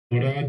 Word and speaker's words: Goddard: Goddard. Am I pronouncing it correctly? Goddard generally, but it doesn't bother Yep.